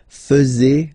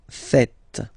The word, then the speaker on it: faites: And it's quite funny because many French people tend to make the mistake and tend to say vous faisiez, okay? But then no. It's vous faites. Vous faites.